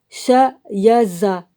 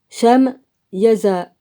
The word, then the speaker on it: Shamyaza: Le premier d'entre eux est Shayaza. Shamyaza. S-H-A-M-Y-A-Z-A. Le second, Arstikifa. Non, Bah, je sais pas comment que ça se prononce.